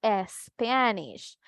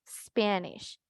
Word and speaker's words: Spanish: También recordar la importancia de cuando una palabra iniciaba con S, seguida de consonante, no lleva sonido de E al inicio, ¿verdad? Entonces nosotros no vamos a decir Spanish, vamos a pronunciar Spanish, Spanish. Solo el sonido puro así de S, ¿verdad? Únicamente.